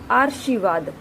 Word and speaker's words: आशीर्वाद: हम बात कर चुके हैं कि जो र का जो रेफ रूप है, उसका उच्चारण जिस वर्ण के ऊपर वह लगा होता है उससे बिल्कुल पहले होता है।